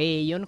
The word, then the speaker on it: Aion: Oggi iniziamo una nuova serie sull'MMORPG di NCSoft, Aion, oppure Aion con la pronuncia inglese.